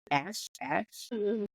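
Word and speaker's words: Asth: I would say that's pronounced A-S-T-H as Ash.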